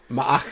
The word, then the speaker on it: Ma'ach: Yes, is that Mach or Ma'ach? Ma'ach. Ma'ach. In the subtitles, it has an apostrophe in there, but the way they pronounce it in the show is just like all one thing.